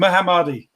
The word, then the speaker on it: Mohammadi: How do I pronounce him? Mohammadi. Yeah, Mohammadi.